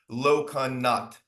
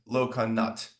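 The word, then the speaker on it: Lokanath: It's supposed to be, I think, pronounced Lokanat. It's something between a T and an H at the end. The A is silent, Lokanat.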